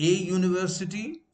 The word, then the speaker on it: university: And in order to clarify, if I have to write the pronunciation using simple Roman, also called Latin alphabet or a script, I can write it this way. YU, then it becomes clearer.